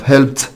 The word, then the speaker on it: helped: number two cleaned climbed helped هتقول له مستر cleaned ده climbed ده طب helped تا فيبقى helped هي المختلفة.